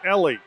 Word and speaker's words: Elie: from Denver Colorado Al why excuse me I pronounced the name of this Eli it's Ellie my mistake your instruction at all time my